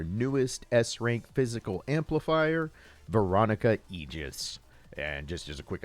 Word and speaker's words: Aegis: S-rank physical amplifier, Veronica Egis. And just as a quick aside, for the first 38 years or so of my existence on this rock, I actually pronounced that word as Aegus.